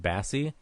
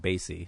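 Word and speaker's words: Basie: he says uh like he references Count Bassie, but in the movie he says it's Count Bassy. So like he mispronounces this legend's name.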